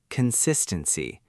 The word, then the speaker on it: consistency: Next, consistency. This one has 4 syllables.